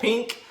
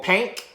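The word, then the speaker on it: Pynk: the strip club called Pink, or Pank. I guess Pank is the proper way to pronounce it.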